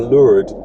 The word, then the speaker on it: Lourdes: a great trip to lourdes or lured if you're using the french pronunciation of it um just after leaving